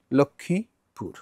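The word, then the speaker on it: লক্ষ্মীপুর: গেল তো হারিয়ে গেল এটা হবে কি আংশিক নাকে হবে লক্ষমীপুর লক্ষমীপুর লক্ষমীপুর নাবা একেবারে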